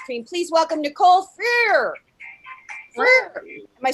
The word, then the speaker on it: Freer: Freer.